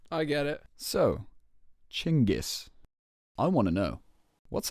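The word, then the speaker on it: Chinggis: so genus it's pronounced chingis actually chingis yeah Cornelius can you pull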